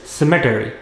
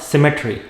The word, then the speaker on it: cemetery: the person was buried next word it is cemetery not symmetry many soldiers are buried in arlington cemetery next